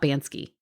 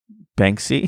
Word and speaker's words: Banksy: What about Bansky? Banksy?